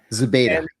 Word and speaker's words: Zubaydah: So Abu Zubaydah, I know I said his last name wrong. Zubaydah.